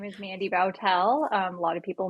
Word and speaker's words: Boutelle: more yeah sure uh my name is Mandy bowel um a lot of people mispronounce my last name so I did the